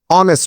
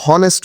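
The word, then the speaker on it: honest: ঠিক একইভাবে পরেরটিতে দেখতে পাচ্ছি অনেস্ট ম্যান, নিশ্চয়ই আমরা কি হনেস্ট ম্যান উচ্চারণ করি না, অর্থাৎ এইচ এর উচ্চারণ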